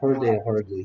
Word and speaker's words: heard: 발음도 주의하라 했습니다. heard.